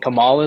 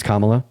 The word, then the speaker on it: Kamala: What do you think Kamala is gonna do? Her name's Kamala.